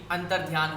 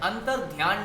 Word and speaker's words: अंतर्धान: सबसे वह बच्चे लोग आप लोग भी गलती यह होती उनके महत्वपूर्ण अंश है जो बार उच्चारण है वह हमारा गलत होता है हम लोग यह मूड इसमें सीरियल्स में सुना होगा कि नरेंद्र मोदी जी अंतर्धान हो गए ब्रह्माजी अंतर्धान हो गये अंतर्ध्यान नहीं होता अंतर्धान होता है फ्रंट